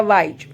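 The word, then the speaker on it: wise: fine next है हमारा वाई देखो स्पेलिंग है हमारा डब्ल्यू आई एस ई डब्ल्यू का साउंड निकलता है व आई का साउंड निकलेगा लॉन्ग आई और ई साइलेंट रहेगा एस का साउंड निकलेगा ज यानी कि डब्ल्यू आई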